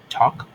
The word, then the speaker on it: talk: Por ejemplo, en hablar, talk, talk, L, perdón, T-A-L-K, talk, talk, no suena la L, se escribe T-A-L-K, no decimos talk, la L no suena, digo talk.